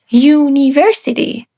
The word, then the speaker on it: university: because it actually start with a consonant sound university.